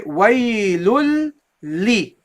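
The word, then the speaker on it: ويلٌ لِّ: So you go here, from here, you say waylul li. Waylul li. Waylul li. Waylul li. There is no noon in pronunciation. Okay, guys? Sometimes people pronounce this a very, very light noon.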